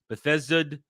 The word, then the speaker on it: Bethesda: So Bethesda Bethesda again Bethesda you again there I said it right.